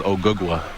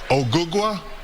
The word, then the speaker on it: Ogugua: My real name is Ogugua. Ogugua?